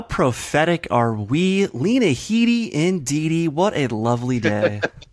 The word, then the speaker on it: Lena Headey: Thrones 12 to 11 first off I love that you pronounce Lena Headey correctly so many people even die hard Game of Thrones fans mispronounce that introducing Franky's that's vanish and there goes the man of controversy mr.